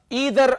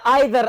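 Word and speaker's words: either: अच्छा जी, दूसरा हमारे पास है ईदर आर या आइदर आर। दोनों प्रोनाउंसिएशंस पॉसिबल है, ईदर आर या आइदर आर, दोनों प्रोनाउंसिएशंस पॉसिबल है, करेक्ट है, ठीक हो गया।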